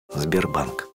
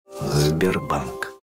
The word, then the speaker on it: Sberbank: And Slavic languages, including Russian, do the same thing. Sberbank. Sberbank.